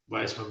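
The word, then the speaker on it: Weissmann: Rod Rosenstein and Andrew Weissman, uh, Weissman being the German pronunciation.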